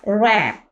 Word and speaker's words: wrap: इसी तरह रैप, WRAP, रैप। रैप अप कहते हैं ना, रैप कर देना। ठीक है, तो W यहाँ पर क्या होगा, साइलेंट लेटर है।